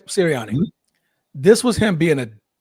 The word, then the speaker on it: Sirianni: This is Coach Sirianni. Am I saying it right? Yes. Sirianni.